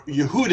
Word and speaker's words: Yehuda: This family, as you can see here, Judah, or Yehuda as we would pronounce it, Yehuda Maccabee, he